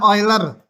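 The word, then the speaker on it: Euler: kuliah kita sampai memunculkan bilangan oiler bacanya oiler nulis simbol bilangannya ini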